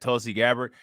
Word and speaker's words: Tulsi Gabbard: her in that one video who is that tulsi gabbard he said it right i used to like